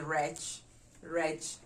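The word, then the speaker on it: rech: the common phrase for fish is rich rich so how do we spell reg r a c h wretch number eleven we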